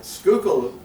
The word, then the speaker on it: Schuylkill: to spell and pronounce Schuylkill is hard enough for many people that's Dutch and uh Schuylkill um many might know